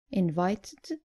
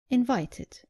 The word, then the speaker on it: invited: pronounce the E clearly so not invited but invited and not demanded but demanded